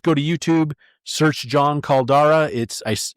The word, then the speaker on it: Caldara: to YouTube, search John Caldara. I think it's pronounced Caldera, but I'm pretty sure it's spelled with all A's.